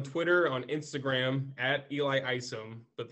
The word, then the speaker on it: Isom: So you can follow me on Twitter, on Instagram at Eli Isom, but the Isom is spelled EYESUM.